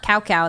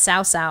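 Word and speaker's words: Cao Cao: They're like, hey, that's not cow cow, that's Sao Sao. And I was like, ah, you got it. And now I can't stop saying it. It's really fun. Sao Sao, Sao Sao, Sao Sao.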